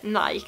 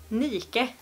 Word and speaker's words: Nike: Men nej, det uttalas inte Nike. Det uttalas Nike.